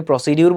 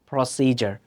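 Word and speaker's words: procedure: ভুলটা করে থাকে সাবকনশাসলি আমরা এটাকে এখন থেকে প্রসিডিউর বলব না বলব প্রসিজার প্রসিজার এত এত কিছু বলার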